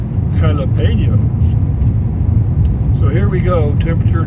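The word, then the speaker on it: jalapeños: the reason they're pronounced jalapenos is a J in Spanish is pronounced H so it's j e l e p a n o s jalapenos jalapenos so here we go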